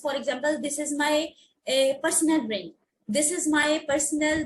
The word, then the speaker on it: personnel: Nurse और any medical पर्सनल। अच्छा यहाँ पे वर्ड देखो पर्सनल, ऐसे कुछ लोग इसे प्रोनाउंस करते हैं पर्सोनल, this is नॉट पर्सोनल, this is पर्सनल।